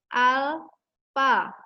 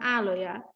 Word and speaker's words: alpha: muai panjang dibaca dengan alpha alpha atau al-aufa jadi Aini membacanya alpha atau bisa juga Alfa Terserah bukan aloya kita lanjutkan koefisien muai